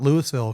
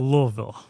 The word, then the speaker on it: Louisville: And well, we call it Louisville because we're not from Indiana.